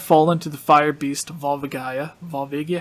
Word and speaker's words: Volvagia: So instead of Volva- Volva Gaia, it's Volvagia, or I think Volvagia is most likely the right way to pronounce it.